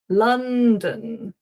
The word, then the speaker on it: London: It's dun London. London. We got that uh not o on London.